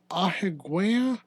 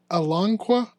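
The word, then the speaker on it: Alanqa: of a terasaur named Aigua I want to say is how you say it. No, it's a Alangqua. Alonga.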